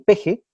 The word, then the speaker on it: pez: Físicamente o antropomórficamente parece una mezcla de pez y lagarto, y la pronunciación pej lagarto, que tiene muy marcada López Obrador, hacía que le dijeran el pej.